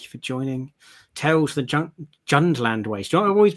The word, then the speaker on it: Jundland: Tales the Jundland Waste. You know, I've always been saying Junkland Waste. I but thought it was no, Junkland. Yeah, me too. There's a D in it.